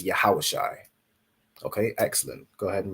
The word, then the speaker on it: Yahawashai: So Ya, Ha, Wa, Sha, and I. That word you'd pronounce it as Yahawashai.